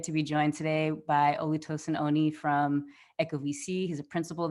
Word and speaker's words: Olutosin Oni: I'll pronounce it with as it's said in my language. It's Olutosin Oni.